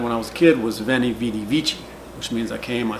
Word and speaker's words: veni vidi vici: do they use the ecclesiastical pronunciation which is the V is pronounced like a V in English and the C is pronounced like a chip sound like in church that's why their last